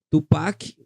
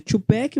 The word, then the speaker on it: Tupac: o tupec conhecido tupec Tupac o nome dele escrito na verdade pronuncia tupec mas a pronúncia vem de Tupac Tupac amaru que foi um grande